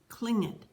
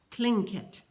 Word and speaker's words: Tlingit: Garvey said he was a Tlingit Indian, pronouncing Tlingit proudly with a clicking of his tongue, as if saying, Tlingit.